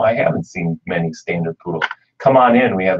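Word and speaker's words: Pudel: So if that's something that's on your mind and I haven't seen many standard poodles, come on in.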